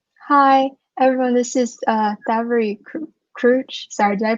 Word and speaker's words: Krouch: This is Thavary Krouch. Sorry, did I pronounce that right? In Cambodian and Khmer, it's Krouch.